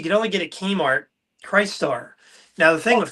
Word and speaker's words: Crystar: Now, the thing Oh, with Christ Star, no, it's so Crystar. People always pronounce that wrong. It's Christ Star, Chris Crystar. Star, The potato, Crystal whatever. Warrior, Crystal Warrior, Crystar. Chris Star, Christ Star, just depends on what side of the Mississippi you're on.